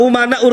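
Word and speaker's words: أمناء: bin smitth Al ulama umanaur Rasul Tapi bacanya Al ulama amanaur Rasul saya katakan salah kenapa Karena di sini umana jam taksir ya para ulama itu adalah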